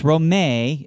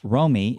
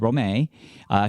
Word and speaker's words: Romay: success our guest is Roma and it's Romay a lot of people might think I'm pronouncing that wrong it's not Romi it's Rome a she has a wife a mother an entrepreneur